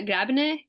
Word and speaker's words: Grabner: Como que pronuncia? Grabner?